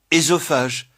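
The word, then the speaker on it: œsophage: Édipe, énologie, ésophague, fœtus. Mais la prononciation E est courante, en particulier dans fœtus, foetus, par confusion avec le second cas.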